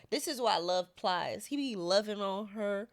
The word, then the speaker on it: Plies: This is why I love Plies. He be loving on her. Who? Pliers. Plies. Plies. P-L-I-E-S. Plies. Oh, man. You don't. Is that how you pronounce it?